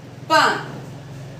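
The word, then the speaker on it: pain: P-A-I-N, pan.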